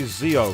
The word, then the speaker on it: Zio: llama because she's got zio or should i say zeo because it's pronounced i always say xyle for some reason not